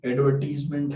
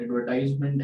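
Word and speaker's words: advertisement: इसी तरह से एडवर्टीजमेंट है, एडवर्टाइजमेंट है, तो एडवर्टीजमेंट एंड एडवर्टाइजमेंट American and British English की वजह से उसमें वेरिएशन है, तो वो दोनों एक्सेप्टेबल है।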